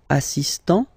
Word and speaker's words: assistant: Il est assistant. So don't pronounce the final T here.